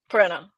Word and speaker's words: Perena: Let's get back to Perina here. Um, Pirina. Pirina. I knew I said it wrong as soon as it came out.